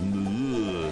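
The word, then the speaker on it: Moorea: And to get away from them, we're off to the neighbouring, soon-to-be-ruined island paradise of Mu'er, which is pronounced by the locals as "Mu'er".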